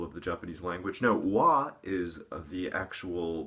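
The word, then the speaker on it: 和: No, wa is the actual pronunciation for the kanji of harmony.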